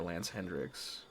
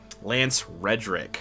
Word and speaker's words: Lance Reddick: This could literally just be Zavala grieving for Lance Hendricks.